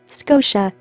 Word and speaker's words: Scotia: Here, the stress is on sco, the first syllable. Therefore, the sound of a in the second syllable becomes weak. Sco, psha, Scotia. Nova Scotia is a province of Canada.